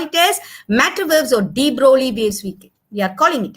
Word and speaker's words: de Broglie: Now, according to de Broglie, actually it is written de Broglie, G is there, but it's pronounced as de Broglie.